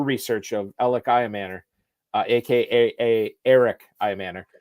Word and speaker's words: Elic: It's spelled ELIC, but it's pronounced Eric.